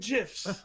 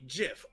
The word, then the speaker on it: GIF: with her first lesson pronounce memes and GIF with a hard G I'm with mayor on this one GIF is pronounced like Jif all the way oh